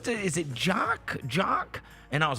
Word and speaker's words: Jock: She was telling me, she was like, is it Jock?